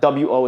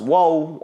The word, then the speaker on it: 我: Because you know that W-O is always going to be pronounced wo. Okay, it's not going to be pronounced whoa on one day. This is the only pronunciation.